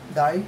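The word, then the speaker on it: die: तो first word है हमारे पास डाई, डी आई ई. डाई means मरना और डी वाई ई डाई मीन्स रंग. उच्चारण प्रोनंसिएशन दोनों की सेम है, डाई डाई, लेकिन मीनिंग डिफरेंट है, स्पेलिंग्स डिफरेंट है.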